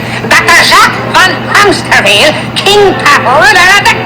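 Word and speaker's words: Hämsterviel: It is pronounced Hamsterville. Dr. Jacques von Hamsterville, King Papa ruler of the galaxy.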